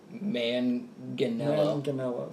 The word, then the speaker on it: Manganiello: Manganiello, thank you. I would say it's multiple syllables. Yes. You don't mush it together.